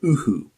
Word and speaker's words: UHU: Yoo-Hoo Stick. Fast, clean, effective. Technically, they should be pronouncing it Uhu, because that's how its German inventor said it.